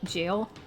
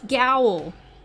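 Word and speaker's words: gaol: words or jail wait g-a-o-l is pronounced jail what but why why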